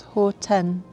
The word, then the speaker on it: Hohtenn: Again, basically doing the same thing in the next spot, which is called Hohtenn, or I don't know, not sure how to pronounce it. So according to the announcement, it's Hohtenn.